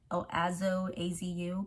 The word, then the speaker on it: AZO: Use the ones that are called AZU, but it's spelled AZO, and they definitely help.